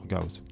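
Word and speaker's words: Gauss: Alors souvent on parle de théorème de Gos. Alors déjà Gos bon il s'appelait Frederich Gaus. Moi, j'aime bien euh prononcer les noms euh bah les noms comme euh la prononciation d'origine. Alors, tu peux la plus G, c'est si tu préfères mais bon, moi je préfère dire Gaos.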